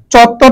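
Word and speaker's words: চত্বর: সংযুক্ত বর্ণটি দন্তস দেওয়া আছে হবে মূর্ধন্য সতুষ্কুণ সঠিক বানানো চত্তর এখানে চত্তর বানান ডাবল ত দেওয়া আছে দুইটা তবে হবে না হবে চত্তর ত এর নিচে ব হবে আমরা জানি ব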